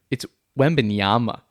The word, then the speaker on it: Wembanyama: Wembanyama, Victor. It's Wembanyama. Whatever. It's an M.